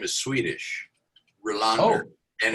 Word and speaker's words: Rohlander: And then the last name is Rohlander, but the way they pronounce it, at least my attempt to pronounce it the way they do, is Rohlander. David Rohlander, right?